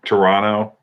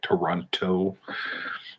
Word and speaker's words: Toronto: on around the world toronto or as they say is is this right toronto that's how you say it there you don't say toronto uh and chris strange